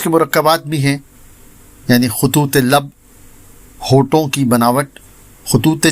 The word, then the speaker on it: خطوط: ایک لفظ روزانہ میں، اور ہمارا آج کا لفظ ہے خطوط، جو درست ہے خطوط بولا جاتا ہے، جو غلط ہے۔ یہ خط کی جمع